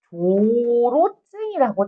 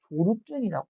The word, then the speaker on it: 조로증: 그래서 여기 뭐라고 돼 있냐면 가끔 예시로 나오는데 시험에서 얘들아 여기 조로증이라고 찾았냐? 조그만 글씨에 조로증. 얘들아 여기 발음을 잘못하면 되게 위험한 단어가 여자애들은 잘 조루증이라고 있어.